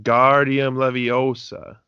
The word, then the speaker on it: Wingardium Leviosa: snapped at by hermione you're saying it wrong it's when guardian leviosa make the gar nice and long then ron says well